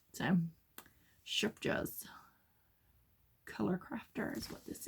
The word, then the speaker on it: Scheepjes: This is Shupjas. I'm saying it like that because I looked up how to say it. Shupjas. But you put the in it. I can't do that. So, Shupjas.